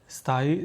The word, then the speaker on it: स्थायी: स्थायी, स्थायी, स्थायी, कोई नहीं। जैसा बोलोगे ना वैसा करो, बोल के देखो, स्थायी, स्थायी, बोल के देखो यार, स्थायी, यानी लास्ट में ई की मात्रा वो बड़ी की, स्थायी।